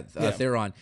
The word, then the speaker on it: Theron: Yeah, Theron.